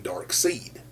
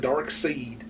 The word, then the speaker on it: Darkseid: I call him Darkseid. Because to me, Side is spelled S-I-D-E. This is S-E-I-D. Now, like I said, I call him Darkseid.